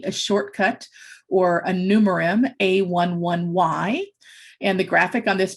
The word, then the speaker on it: a11y: y is the numeral you say it as a 1 1 y and some people may say a 11y it's not pronounced as ally as being an ally or ally as in